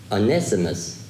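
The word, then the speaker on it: Onesimus: out now verse nine it says one with anessimus i had to look that up today to pronounce it correctly with an estimates of faithful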